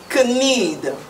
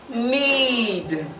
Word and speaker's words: knead: have is need need need not could need could need is wrong so the word is need need need means to